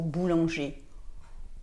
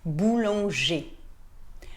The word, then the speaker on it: boulanger: on voit er pour boulanger on prononce et on ne prononce pas le r boulanger par contre si on